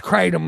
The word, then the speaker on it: kratom: say I'll say well it rhymes with hate them but it's kratom I'll set one words